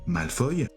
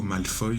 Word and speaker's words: Malfoy: Donc ça fait penser évidemment à Draco Malfoille. Je précise que Draco Malfoy c'est plus la prononciation en anglais.